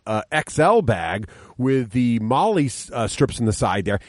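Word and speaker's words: MOLLE: my battle foam uh XL bag with the Molly strips on the side there and they Craig we know how to pronounce it now Molly olly Molly Molly Molly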